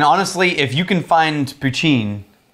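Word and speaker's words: poitín: if you can find puccin this is called pachin then that's going to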